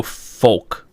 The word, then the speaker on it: folk: I'm gonna go folk. No, it's not folk. You pronounce the L in folk? Folk.